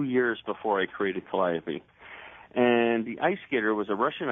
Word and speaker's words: Calliope: Now the piece, am I pronouncing it correctly? Calliope. Calliope.